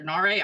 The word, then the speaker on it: Nare: Vell and Lester Nar I always thought it was Lester nir but when he introduced himself he said Lester nare I was like okay whoops I was saying it wrong greetings friends and thank